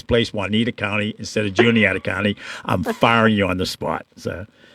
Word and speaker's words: Juniata: When you're on the road, you forget, Juanita County. Yeah, you didn't go to Juniata County, of course.